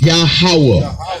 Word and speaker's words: Yahweh: It's better pronounced Yahweh.